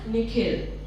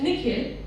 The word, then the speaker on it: Nikhil: The way the principal pronounces his name is different from the way his parents say it. The second part of it is longer, sounding like hill.